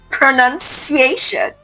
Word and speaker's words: pronunciation: The word pronounced has O but pronunciation does not. So the correct pronunciation is pronuniation. Okay. Not pronunciation. Pronunciation.